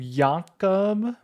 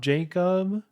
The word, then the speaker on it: Jakob: Wait, that's how you say his name? Jakob? Ain't no way. It's not Jacob?